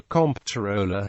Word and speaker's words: comptroller: a title for a comp tooler who specializes in checking Financial Ledges this atmology explains why the name is correctly pronounced identically to controller despite the distinct spelling however controller is sometimes